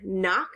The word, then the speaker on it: knock: have n so like in the word knock like knock knock knock you don't hear the K you would just hear n and in this case it's spelled k n so adding that to